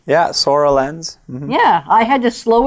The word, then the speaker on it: Soralens: Yeah, Soralens.